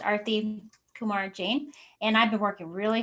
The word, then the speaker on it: Arti Kumar-Jain: wanted to tell everyone my name is pronounced arthy kumar jane and i've been working